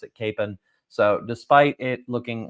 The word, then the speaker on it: Kapaun: of Father EML Capen I thought it was pronounced Kon but I've heard listening to stories from uh